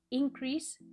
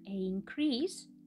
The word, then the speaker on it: increase: significado principal totalmente infractor este es el caso de muchos verbos que no se diferencian en su forma escrita de sus sustantivos por ejemplo increase increase incremento e incrementar con track